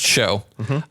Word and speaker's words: showbread: table of bread called showbread. Yeah, I didn't look that up. I should have. Show SHOW. EW. Okay, got it. Hold on, let me click on. But pronounced show.